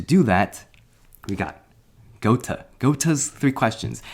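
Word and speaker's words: Goethe: that we got gota gota's three questions not ghost not goth i remember i figured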